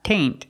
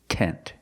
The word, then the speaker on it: tent: flower tent and remember it's not taint it's tent use the short s sound tent flower tent example they